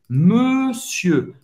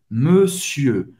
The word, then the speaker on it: monsieur: Aqui tem esse som do E, o E fechado, ok? Para fazer o E, faz a boca do O e fala E. E, monsieur, monsieur. E o R é mudo.